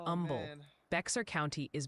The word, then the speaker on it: Humble: Humble is Umble.